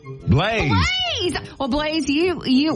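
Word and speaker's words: Blaise: Slade SED Slade can you can you spell that for me b l a i s e Blaze Blaze well Blaze you you we got your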